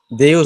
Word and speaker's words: Deo: जो हमारे यहाँ देव कहते हैं, देव एज इट इज लैटिन भाषा में देव है, स्पेलिंग डीईओ करते हैं उसको, देव।